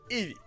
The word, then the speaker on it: Eevee: Ils ont pris les deux premières lettres de évolution, E et V, qui se prononcent en anglais Eevee.